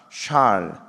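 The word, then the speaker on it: שאל: 샬. 발음을 좀 명확하게.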